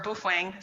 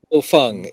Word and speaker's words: Baofeng: And my husband, he bought the Baofeng and or Boofwang, someone other YouTuber says it. But they all work. Yeah. So I got the Bofeng. Bofeng is the pronunciation.